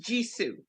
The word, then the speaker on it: JISU: ring just went off um okay and it's pronounced jisoo okay that's good to know uh do you